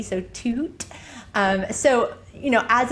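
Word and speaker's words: Tuut: And for our listeners, it's spelled t u u t. So toot.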